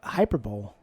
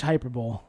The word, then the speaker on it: hyperbole: just being uh all uh hype uh uh hyper bowl yeah that's verbally that's too much hyperbole hyperbole hyperbole yeah you're going hyper i'm being